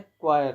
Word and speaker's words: choir: आपको इसे सही से प्रोनाउंस करना है, क्वायर।